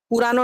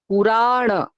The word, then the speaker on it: পুরাণ: বাংলায় বললে বলবে পুরানো নাটকে, না, বা আরো বলবে পুরাণ নাটকে। আমাদের একটা খুব টেন্ডেন্সি থাকে, নিজেকে সংযত করবেন। কি হবে? পুরাণ।